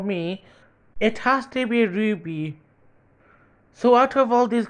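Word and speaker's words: RWBY: just like wings club the title is spelled r WBY Y which is a clever way to write the word Ruby kind of like how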